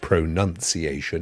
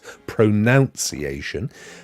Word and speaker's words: pronunciation: and by the way when you do use the word pronunciation it is not pronunciation it's pronunciation there's a nun in there but anyway what who's this